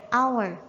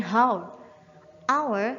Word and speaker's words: hour: end our name disitu memang huruf awalnya bertuliskan ha akan tetapi kita membacanya hour bukan How our seperti Huruf Ayah jekita